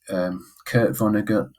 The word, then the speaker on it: Kurt Vonnegut: It was Kurt Vonnegut.